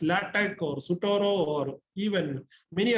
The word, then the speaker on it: LaTeX: It is pronounced written LaTeX, but pronounced LaTeX or Sutoro, or even many other softwares are.